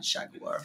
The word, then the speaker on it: jaguar: And here's the thing about jaguar. Jaguar comes from Nahuatl. That's a Latin American word. Okay. So you don't get to tell us how to say that. That's hilarious. That's jaguar, right? It's not jaguar. Get the hell out of here.